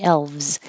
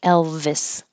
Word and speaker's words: elves: next to each other elves make a V and then go to the Z elves if you have an extra sound it could sound like Elvis Elvis soothing this th